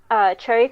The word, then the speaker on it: Choeryy: I guess you can follow me on Twitter at it's cherry colored, but it's spelled CHOERYY, and then colored spelled with the British way with a U.